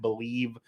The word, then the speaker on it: Bleav: to find them at believe network on twitter and that is b l e a v by the way but it is pronounced believe also everywhere they have